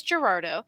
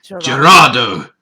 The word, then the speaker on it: Gerardo: You're saying it wrong. You have to put some bass in your voice. You have to say, Gerardo. Gerardo! Yeah. I lack the necessary parts to put bass in my voice. So roll your R's.